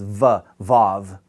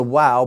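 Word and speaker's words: waw: But actually, originally, it was wow. It was pronounced like a W.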